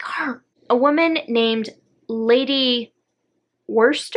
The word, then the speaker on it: Worcester: a woman named lady wurster i think that's how you say it oh i'm sorry no r worcester lady worcester who knew w-o-r-c-e-s-t-e-r worcestershire no it's not even the same word no you actually pronounce it worcester so lady worcester shows